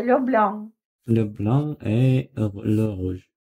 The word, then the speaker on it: blanc: C на конце не читается. Le blanc.